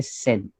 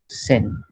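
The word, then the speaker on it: 千: ये 1000 को बोलते हैं सेन. ओके. 1000 को बोलते हैं सेन. सिर्फ मैं आपको ये इंट्रोड्यूस करके रखता हूँ. Okay. So इट is called सेन.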